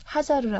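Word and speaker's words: هاجر: 이제 하갈 하갈 예 이제 성서에 보면은 하갈이 아고 돼 있고요 이제 아랍어 발음으로는 하자르 그래요 하자르 예 자르고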